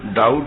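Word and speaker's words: doubt: हाँ, बोले जो डाउट है ना, डाउट अंग्रेजी में, तो डाउट जो है ये द्वैत है। तो जहां भी द्वैत होगा, तो बी तो साइलेंट है ना भाई, तो बोले ये द्वैत का ही डाउट है।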